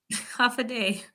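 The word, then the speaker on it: Hafa Adai: So, Mary Kate, Hafa, help me pronounce. Half a day.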